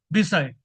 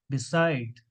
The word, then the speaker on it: beside: b s d many students pronounce this word bide the real pronunciation is beside because the stress is on second syev that